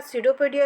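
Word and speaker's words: pseudopodia: हैं जरासा ध्यान दीजिएगा सूडो पोडिया इसका प्रोनंसिएशन है पीस में साइलेंट है या फिर इसे हम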